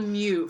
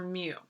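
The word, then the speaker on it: μ: mean oh that's terrible that's called mu for anyone that doesn't know how to pronounce that's your mu and then that little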